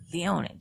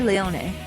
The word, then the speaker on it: Leone: Now, is that Leon or Leone? If we're pronouncing it like the Japanese way, then they would say the ne at the end.